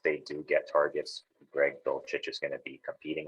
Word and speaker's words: Dulcich: Got Jelani Woods for the Colts and Greg, I don't know how you pronounce this, Dulcich, I think you pronounce it, Greg Dulcich for the Denver Broncos.